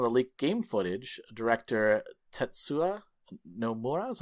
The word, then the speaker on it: Tetsuya Nomura: In a statement to counter some of the leaked game footage, director Tetsuya Nomura, is how you pronounce his name, wrote, "The game's planned epilogue